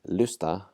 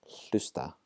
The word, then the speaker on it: hlusta: Rather than saying lusta, and ignoring the H, we're going to pronounce the H, hlusta.